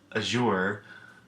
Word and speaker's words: azure: when we hit digraphs but as your makes a CH sound honestly I don't even know how this time if I'm making CH sound correctly I think so but time will tell so Z just a